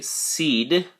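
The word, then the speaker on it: cede: you, or more authority, we would say seed, just like the thing you put in the ground to have grow, but this is spelled C-E-D-E.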